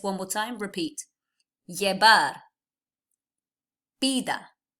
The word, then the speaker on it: vida: We know from the previous slide that that's pronounced B. Then there's the I, but in Spanish that's always I. So the word for life in Spanish is pronounced vida.